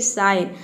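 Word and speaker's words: sign: ज प्रोनाउंस करते हैं अब देखिए यहां पे साइन में आप देख सकते हैं कि ना ही ग का साउंड है ना ही ज का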